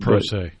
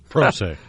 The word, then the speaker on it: pro se: Pro se. That's it. Per se. Pro se. Spell it.